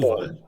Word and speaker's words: Boll: the same question because I don't want to mispronounce your name. It's Uwe Uwe. Boll.